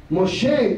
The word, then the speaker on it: Moshe: the Divine name to Moses Moshe is how we say his name he reveals this name